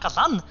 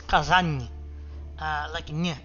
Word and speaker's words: Kazan: So it's not Kazan, it's Kazan. Almost like there's a N, like a G, silent G and H there that makes it, well, not a G and H, but like, that's how it is. So, it's supposed to be Kazan, not Kazan.